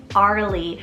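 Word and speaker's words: Arlie: gender neutral option here is arly spell a-r-l-i-e Arley I find this one very soft and almost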